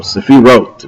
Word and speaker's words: sephirot: will 10 different powers they're known in Hebrew as the seiros or sephirot if you want to use the spartic pronunciation these are 10 Divine